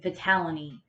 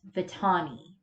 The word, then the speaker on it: Vitani: her name it's either vitamin e tawny and at some point i remember calling her as a kid vitality for some reason it's vitani i don't know why i always mispronounced that but you know so